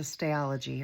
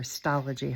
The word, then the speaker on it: Stalogy: Oh, my journal is a stalogy or stology, however you want to pronounce it. I've heard it pronounced both ways, just in case you wonder.